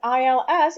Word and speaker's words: ils: Il is he, il, and ils, it's they, so plural. But they're pronounced is exactly the same way, unless there are some